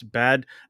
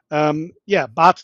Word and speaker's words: Bad: help me pronounce this, Bad Dürrenberg is what it looks like. It's not bad, it's Bad. Bad. It's like a spa where there are fountains, you know, and so